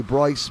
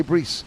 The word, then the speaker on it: Brice: I spoke to him, he said, is it Bryce or Brice? And he said, right, in English people say Bryce, but in French it's Brice. So he said, you can say Bryce. I said, I'm not English, I'll say Brice.